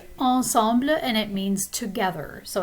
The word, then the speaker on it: ensemble: But of course, in French, this is pronounced ensemble, and it means together.